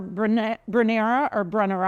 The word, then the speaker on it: Brunnera: Chinese forget-me-not, or Brunnera, I've heard it pronounced both ways, has this beautiful heart-shaped leaf.